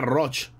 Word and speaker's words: Roig: como se dice roig se pronuncia roig juan roig juan roig